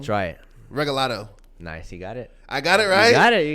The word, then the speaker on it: Regalado: probably going to say it wrong try it regalato nice you got it I got it right